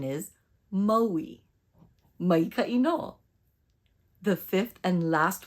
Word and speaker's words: Maui: see the difference in my mouth the incorrect pronunciation is Maui and the correct pronunciation is Maui no the fifth and last word in this